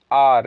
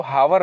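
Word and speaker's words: hour: जैसे एन आर, इसको हावर नहीं पढ़ते, उसको कहना एन आर।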